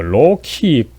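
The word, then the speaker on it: loci: 여기서 이 총론에 해당하는 이 로키, 라틴어에서 C는 항상 그 크로 이 발음이 되죠. 로키 코뮤네스라고 합니다만, 로키라고 하는 것은 장소, 플레이스를 말합니다.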